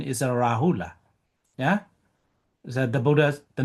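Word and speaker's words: Rahula: In Burmese, we say the Yahula. Yeah. But uh the correct pronunciation is a Rahul.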